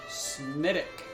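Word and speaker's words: Smithwick's: Smittix. Spelled Smithwick, but pronounced Smittick.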